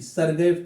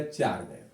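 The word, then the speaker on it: Chargaff: इनको बेटा कहीं कहीं आप देखोगे नाम में, इनको नाम में लिखा रहेगा चारगैफ, तो दोनों एक ही है बेटा, चाहे सरगैफ हो, इंग्लिश उच्चारण चाहे सरगैफ कीजिए चाहे चारगैफ कीजिए।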